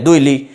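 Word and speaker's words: الدؤلي: उसके बाद लाम है दुली यानी इसको कोई काफ ना पढ़ दे ये दुई की नहीं है लिखा हुआ दुली मशहूर नोहा इस इल्म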